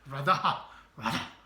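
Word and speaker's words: רדה: 한번 따라해 보겠습니다. 라다. 이 하 발음이 들어가야 됩니다. 라다.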